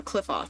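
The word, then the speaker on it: Qliphoth: It's pronounced the same as that one moth tuber. Oh, so Cliffoth. Okay.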